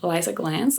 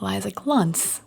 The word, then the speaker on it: Glanz: It's inspired by a post that I saw from Liza Glantz. I hope I'm saying it well. Editing Genevieve here. No, I was not. Liza Glantz, I think, is how you say it.